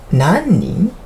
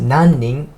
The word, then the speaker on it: 何人: いくつ When you're asking つ If you want to ask how many people, 何人 You're gonna pronounce like 何人何人 If you really wanna